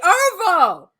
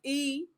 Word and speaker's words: Erivo: Because it is ERIVO. Yes. Oh my God, it's not Erivo, it's Arrivo. Arrivo. Or did he just say it wrong?